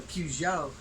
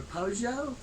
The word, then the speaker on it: Peugeot: Whipping them nunchucks like I'm whipping a Peugeot or a Peugeot. I've heard it pronounced both ways. I think it's French.